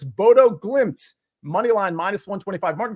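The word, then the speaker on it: Bodø/Glimt: no I I wasn't even listening to the pronounciation here but I believe it's Bodo glimps money line minus 125 Martin green how did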